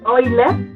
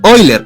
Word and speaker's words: Euler: Bueno, la pronunciación rusa es Euler. Ok. Pero, como nosotros hablamos español mexicano, siempre decimos Euler.